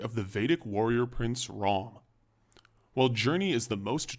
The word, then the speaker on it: Rama: translation more accurately reflects rom's personal transformation over the course of the epic the great hero rom and no it's not pronounced rama was the first born